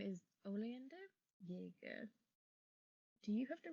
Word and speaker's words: Oleander: And you said it was pronounced oleander?